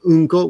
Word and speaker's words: Unko: The difference is one syllable. Anko, which is red beans, and Unko, which is shit.